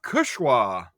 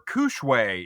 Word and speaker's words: Kushwa: I am having Back to Earth Czech style Pilsner out of Kushwa, or Kushwe if you want to pronounce it incorrectly.